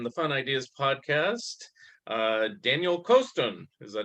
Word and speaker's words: Coston: Okay, today we have on the Fun Ideas podcast Daniel Coston. Is that how you pronounce it? I should have asked ahead of time. Coston, like Boston with a Coston.